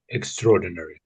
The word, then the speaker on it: extraordinary: So it does look like. So I guess we sort of it gets split up differently when the syllables get split up differently when it's put as this one word here.